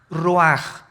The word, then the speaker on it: ruach: ruaj que se escribe r u a c h ruach en el hebreo y se pronuncia igual ruaj Aquí vemos que al